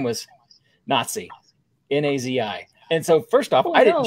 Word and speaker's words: Nazi: a woman who, her first name was Nazi, N-A-Z-I. And so first off, didn't choose her to begin with. And it's actually pronounced Nazi.